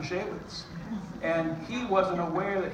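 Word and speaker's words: Shaywitz: It was Dr. Shorwitz, Dr. Shekowitz, Dr. Shavitz. But he actually never once said Dr. Shawitz.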